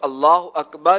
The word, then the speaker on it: اللہ اکبر: امام کے ساتھ اگر ہم تکبیر تحریمہ کہیں تو اللہ اکبر، یعنی اکبر بھی، لفظ اکبر بھی امام کے اکبر کہنے کے بعد کہنا ہے.